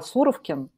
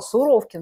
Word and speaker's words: Суровикин: Потому что всю жизнь называла суровке поэтому я не разобралась в такой суровке то что ударение поставил на у я Да извините товарищи